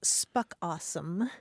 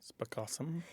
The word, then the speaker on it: spookasem: There's a South African term that's spelled Spookasem, and it's pronounced spuckawesome. Spokawesome.